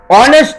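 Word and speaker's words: honest: যেমন অনেস্ট ম্যান, অনেস্ট ম্যান, অনেস্ট ওয়ার্ডের first letter H, এইচ উচ্চারণ হওয়ার মতো হওয়ার কথা, কিন্তু এখানে কিন্তু অর মতো হচ্ছে, অর্থাৎ ভাওয়েল সাউন্ড, তাই একজন সৎ ব্যক্তি বোঝাতে অ্যান অনেস্ট ম্যান হয়েছে।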